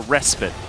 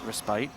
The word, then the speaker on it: respite: a little bit of respite or respit depending on how you want to pronounce it how do you pronounce it respite you a respite guy yeah cuz people say respit yeah I don't know